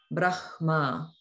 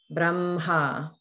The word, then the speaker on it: Brahma: na or arna, then the sounds are pronounced in the switched order.